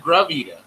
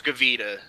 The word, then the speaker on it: Gavita: He said Gravita. Yeah, however the fuck you pronounce it. Buddy. It's off-brand, right? Or is it an actual Gavita? It's Gavita.